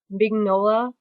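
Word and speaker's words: Mignola: his last name either I think his last name is pronounced mola anyway the guy who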